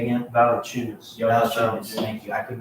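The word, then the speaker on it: Valančiūnas: Valanciunas. Valanciunas. Thank you. I could not pronounce his last name at all.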